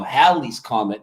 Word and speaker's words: Halley's Comet: Well, Haley's Comet itself has been Mandela affected and is now Halley's Comet with a short A and two L's.